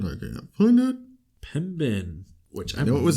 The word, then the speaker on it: Pembine: who witnessed a Bigfoot crossing the highway near Pembine. Is that how you say it? Pembine? Pembine.